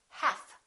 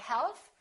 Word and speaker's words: half: Half. We don't say half, we say half.